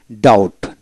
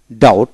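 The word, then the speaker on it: doubt: ডিও ইউ বিটি ডাউট, অর্থাৎ ডিও ইউ টি ডাউট বি উচ্চারিত হবে না।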